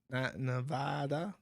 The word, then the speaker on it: Nevada: five for five says you are pronouncing Nevada wrong the first a sounds like the a in apple people in Nevada don't like it when you say nada ah Apple ah Nevada Nevada oh are you